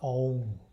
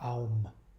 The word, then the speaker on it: Om: So it's pronounced Om, not Aum.